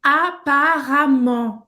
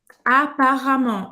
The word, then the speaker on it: apparemment: Só uma coisa aqui, apparemment. Gente, tem um E aqui, mas a gente vai pronunciar como A, tá? Apparemment. Apparemment.